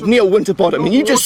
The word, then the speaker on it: Winterbottom: winterbottom no it's not is it water bottom then no it's winterbottom right well you just said no it's not when I said near winter bottom and you just said